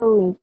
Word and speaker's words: phone: Phone. Nih. Phone. Phone. P-nya hilang ya, Miss? Bukan, ini ganti F jadinya. F-E-U-N. Phone jadinya.